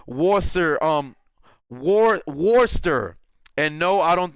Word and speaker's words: Worcester: Brandon Chewy Black, just saying it's pronounced Worcester.